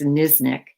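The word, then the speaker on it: Knizhnik: named uh shanna and i believe i'm pronouncing this correctly niznik it's kn but i think it's nisnik who nicknamed her notorious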